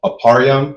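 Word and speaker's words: אפרים: For instance, a um aparam, which is how you say Ephraim, the tribe of Ephraim, who are the so-called Puerto Ricans, right?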